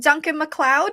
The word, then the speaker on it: Duncan MacLeod: great um so with us today we have Duncan McLeod did I say it right yes you did